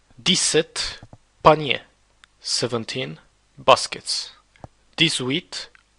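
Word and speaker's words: huit: with crayon be careful this age you don't pronounce it that's why it's called a mute age ash mill wheat crayon then again nerve death nine oxen nerve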